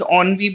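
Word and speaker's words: ennui: It is pronounced onvi because of course it's a French term.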